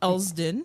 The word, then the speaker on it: Elsdon: And the hardest community area to pronounce, in my opinion, Elsdon.